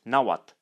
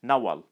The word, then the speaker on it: Nahuatl: sides of your tongue in eastern nowat it has come to be pronounced T so the name of the language is pronounced naat in Western n it has come to be pronounced so the name of the language is pronounced naal the degree of mutual